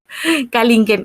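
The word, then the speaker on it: Canguilhem: llama Kalingen, bueno, ahí como decía Katy, pronúncielo como Kalingen, ahorita se los copio en el chat.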